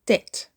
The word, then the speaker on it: debt: Don't say debt, say debt. Debt. Debt is 1 syllable. He paid off all his debt last year. The B is silent, just like in doubt.